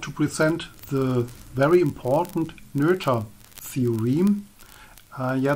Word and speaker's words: Noether: present the very important nurture theore uh yeah the pronunciation is nura because it's an IG name of Emy nura a German mathematician uh she had worked